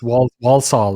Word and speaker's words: Walsall: You say it with an R. There are no R's in this word. It's Walsall.